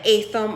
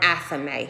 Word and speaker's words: athame: now I work with the a thumb or an athame however you want to pronounce it okay it's an it's